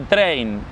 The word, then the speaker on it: Trane: épicos, y el chabón se llama Train, digamos, como si fuese tren, pero se escribe Trane, ¿entendés?